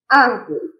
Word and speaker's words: árvore: Árvore. Árvore. O ar saiu com maior intensidade, que é a antepenúltima sílaba. Então, a sílaba tônica sendo a antepenúltima, então se trata de uma palavra proparoxítona.